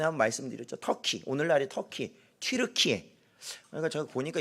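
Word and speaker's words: Türkiye: 영어식으로 하면 터키인데 이걸 약간 뭐 독일어식이든 다른 걸로 하면 튀르키예 이렇게 되는 것 같아요.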